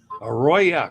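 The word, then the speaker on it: Aroya: who knows never can tell all right Ayo a royya gota say it right folks a Roya cruises is a new Cruise Line operated by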